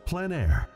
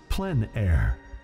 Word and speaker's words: plein air: we cover the world of outdoor painting called plein air the French coined the term which means open air or outdoors the French pronounced it plan air others say plein air no matter how you